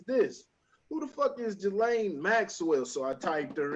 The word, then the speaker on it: Ghislaine: A name that I kept seeing on there was Jelani. I was pronouncing it as Ghislaine. Is it Ghislaine, Jelani? Two different pronunciations. The Maxwell chick. Yeah, Ghislaine Maxwell.